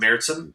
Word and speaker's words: Märzen: Like you're saying Märzen, Marzen, with the two things over the A. That's how you say it? Yeah, Märzen.